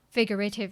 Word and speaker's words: figurative: Which syllable is the loudest? Yes, first syllable fig မှာဖြစ်ရပါ အဲ့တော့ကျန်တဲ့ဟာတွေအတန်းကပျော့သွားတယ် figurative လို့မထွက်တော့ figurative ရရွှာဆောင်ပဲဖြစ်သွားပါတော့ so repeat after me.